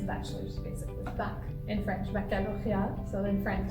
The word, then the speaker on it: baccalauréat: In French, baccalauréat.